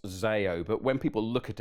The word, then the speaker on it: Zeo: so zeo and and as a greek actually it's it's if we were going to be true about it it's actually pronounced zayo but when people look